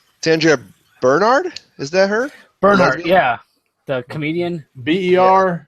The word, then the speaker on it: Bernhard: So it's like burn hard. Bernhard, not Hart.